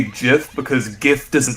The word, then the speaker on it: GIF: But yeah, it reminds me of the peanut butter, so I just think it's GIF like the peanut butter, but it's spelled differently.